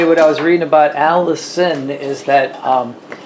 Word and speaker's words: allicin: is just some chemical in there it's called allicin no it's not that out it's spelled uh a-l-l-i-c-i-n if i if i remember correctly but anyway what i was reading about alice in is that um it's in garlic but it's